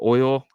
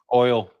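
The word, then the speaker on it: OYL: one hour only on o y l wallet how do you say that oil oil yeah oil uh like retweet comment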